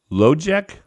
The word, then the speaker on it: Lojek: comes up, and it's Lojek. Yeah, it's spelled like logic, but with a K.